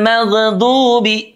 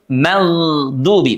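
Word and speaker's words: مغضوب: Pada saat membaca magdubi jangan sampai mag ghairil magdubi. Tidak demikian tapi ditahan suaranya ya. Jangan sampai memantul. Magdubi maksud saya suaranya mengalir ya. Ghairil magdubi mengalir dan juga tebal.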